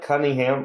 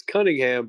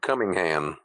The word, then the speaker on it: Cunningham: He keeps pronouncing it's Cunningham, but he's like emphasizing the first part of her name. Oh, Cunningham. I thought he said Cummingham.